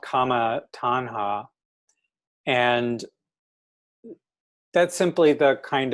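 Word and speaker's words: taṇhā: In Sanskrit, I'm not positive on the pronunciation. In Pali, it's tanha.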